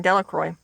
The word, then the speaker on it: Delacroix: and harry jones and dicky delacroix the villagers pronounced this name delacroix eventually made a great pile of stones in